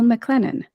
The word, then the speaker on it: McClennen: today stina and I are speaking with Jill mclennen am I pronouncing your name correctly you are yeah good